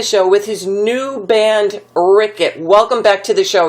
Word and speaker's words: Riket: it's hard uh it's in Swedish it's called ret uh but ret is it's it's close enough